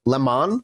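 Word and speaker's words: Lamon: Lemon Lemon. It's actually lemon, weirdly. It is lemon. Okay. It's spelled Laymon, but it's Lemon.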